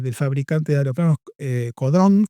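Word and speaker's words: Caudron: Bueno, y y se si se anota en la escuela de del fabricante de aeroplanos eh Codrón, Caudrón se escribe en Francia.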